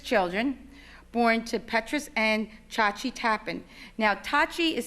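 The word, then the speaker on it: Tjaatje: He was the 4th child of 6 children born to Petrus and Chauci Tappen. Now, Chauci is spelled T-J-A-A-T-J-E.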